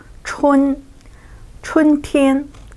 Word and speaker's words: 春天: So pronunciation as a 春天, so that is the springtime.